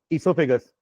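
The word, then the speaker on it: oesophagus: हो जल्दी बताओ what is the third part इससोफेगस इससोफेगस का इजी नेम होता है फूड पाइप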